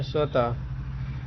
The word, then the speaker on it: स्वतः: इसका उच्चारण ह व्यंजन के समान होता है। जैसे स्वतः इस प्रकार लिखते हैं लेकिन पढ़ते हैं स्वतः।